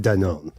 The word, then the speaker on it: Danone: have to do uh it's a French company it's pronounced Danone oh it's unknown so